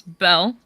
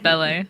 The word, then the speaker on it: Belle: I actually pronounce Belle not ble as some people like to think but that's okay.